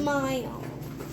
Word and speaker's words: smile: Smile. Smile. It should go over here. Yeah, because it has the silent E at the end.